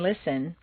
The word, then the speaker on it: listen: Just as you don't say the T in listen, the double T in better is pronounced D.